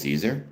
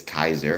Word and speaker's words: Caesar: I like Julius Caesar. Julius Kaiser, I think is the actual proper Roman pronunciation, Latin pronunciation.